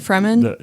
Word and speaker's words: Fremen: Okay, I might mispronounce this. Is it Fremen? Is that how you say it? Fremen? Yeah. Okay.